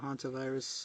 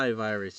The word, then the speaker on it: hantavirus: Okay, so People freaking out all over the place though, especially with the hantavirus and the stuff like that. hentai virus, you gotta No, pronounce it no. right. Hantavirus.